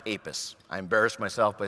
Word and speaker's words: APES: It's pronounced APES.